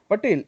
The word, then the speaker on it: Patel: In your surname, Patel, E is pronounced as E means A, A.